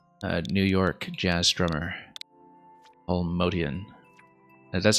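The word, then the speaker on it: Motian: But over the decades, so many people pronounced it Paul Motion, uh, M O T I A N, because it looked so much like the word motion, M O T I O N, that eventually just kind of went with it.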